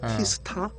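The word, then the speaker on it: T*: 그게 이제 일병 티스라고 읽어. 티스타 열이라고 티스타라고 읽는데 그게 이제 일명 무반사 코팅이라 그래.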